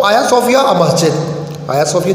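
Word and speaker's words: Hagia Sophia: हाया सोफिया, अच्छा देखिए इसकी प्रोनाउंसिएशन बच्चों ध्यान में रखना, जी है लेकिन टर्किश लैंग्वेज में जी ज़रा साइलेंट होता है। इसको हाजिया भी कुछ बुक्स में आप देखें लिखे हुए, लेकिन सही प्रोनाउंसिएशन आया सोफिया है।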